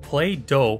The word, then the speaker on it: Plato: hysterical uncontrolled natural disasters Plato pronounced play do said that those who